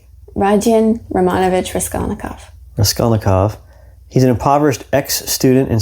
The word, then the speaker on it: Raskolnikov: Raskolnikov.